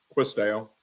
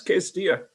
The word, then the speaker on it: Quis Deo: I am pronouncing that correctly, right? Yeah, close enough. Quis Deo.